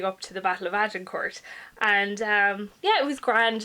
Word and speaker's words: Agincourt: The first one I'm going to talk about chronologically is Agincourt by Bernard Cornwell, or Agincourt. Apparently that's the way it's spelled in French and it's in France.